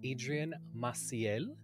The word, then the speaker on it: Adrian Maciel: a fellow vendor an incredible artist we have Adrian Maciel did I pronounce that correctly yes he pronounced it perfectly